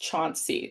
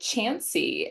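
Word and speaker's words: Chauncy: town near here that looks like it's pronounced Chanty. Like there's it C H A U N C Y. Um but you say it Chansy.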